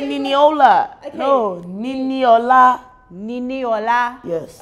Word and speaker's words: Niniola: No, that's her name, Niniola. Niniola. Did I get it right? I'll give you that. Oh, guys. You said Niniola.